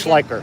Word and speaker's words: Schliker: Just just all of us together because we're all friends on the Beach Report and on the Dennis Schl how do you say your name again? Schliker.